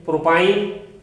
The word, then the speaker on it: প্রোপাইন: number সদস্যের নাম হয় প্রোপেন তাহলে এটার নাম উচ্চারণ করতে হবে আইন প্রোপাইন তাহলে এর নাম হবে প্রোপাইন প্রোপাইন অনুরূপভাবে আমরা যদি এন